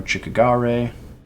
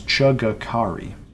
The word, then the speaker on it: Chugakari: The legendary Chultan hero Chikagare... Oh. Chugakari. Sorry, it is Chugakari. I'm not good at pronouncing that name.